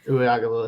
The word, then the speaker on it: Uiagalelei: Yeah, I wonder Ungalele, or however you say it. I forget how to say his name. It's been a while since I cared. Uiagalelei, that's right.